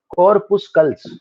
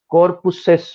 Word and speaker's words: corpuscles: कई जगह मैंने प्रोनाउंसिएशन देखा है कि कुछ लोग एल छोड़ देते हैं, कॉर्पुसेस बोलते हैं, ऐसा कुछ अजीब सा बोलते हैं, बट हमारे लिए ज्यादा इंडियंस के लिए जो मुझे लगता है हमारे जो ये वाला प्रोनाउंसिएशन ज्यादा अच्छा है, कॉर्पुस्कल्स।